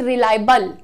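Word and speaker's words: reliable: sounds is very important so don't call it रिलायबल call it रिलायबल बल बिल्कुल ब और ल ल के साउंड को हमने जोड़ दिया सो मेक इट रिलायबल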